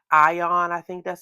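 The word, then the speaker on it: AION: I am also interested in the Lami ion.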